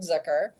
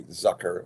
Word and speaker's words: Zucker: to have you um well thank you for pronouncing my name right really I did this Zer a lot of people say Zucker all my high school teachers always said Zucker so really I'm I'm